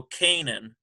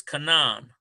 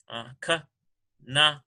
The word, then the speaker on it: Canaan: Canaan, which your King James would go Canaan, but it's Canaan. Ka-na-a-n.